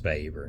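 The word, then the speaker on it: Weber: power is defined by by um vaver and it is pronounced vaver not right he's German rightly strange and he's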